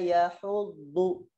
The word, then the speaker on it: يحض: Kemudian fokus juga di surah Al-Ma'un ini dikata yahuddu, huruf do-nya hati-hati ya. Do itu adanya di tepi lidah sini, disentuhkan ke geraham. Wala yahuddu, huddu gitu bacanya. Wala yahuddu gitu bacanya ya.